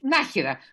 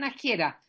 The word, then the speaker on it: Nájera: se atropelló Nájera que para que no le digan Nájera porque Nájera es un río donde nació mi papá en La Rioja que afluente el ebro por lo tanto no se dicen naciera Nájera es el nombre de un río verdad que que